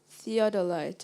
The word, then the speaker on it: theodolite: to survey the land theodolite am I pronouncing the word correctly sounds good to me theodolite t h e